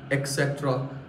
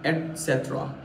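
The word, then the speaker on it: et cetera: एक्सेट्रा नहीं होता है, इसकी स्पेलिंग भी ये होती है, इसको हम शॉर्ट में ETC बोल देते हैं, लेकिन तो सही प्रनाउंस किया जाता है एटसेट्रा.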